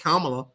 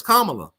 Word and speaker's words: Kamala: It's Kamala, not Kamala. It would be Kamala if she was black. It'll be Kamala, but she's Kamala. You know, Camelot. This ain't Camelot.